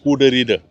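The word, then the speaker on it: Goede Reede: Voilà, et eux, la prononciation, ils disent Goederede.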